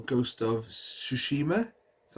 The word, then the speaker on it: Tsushima: I do want to pick up, though, on the PlayStation 4, Ghost of Tsushima. That's how you pronounce it.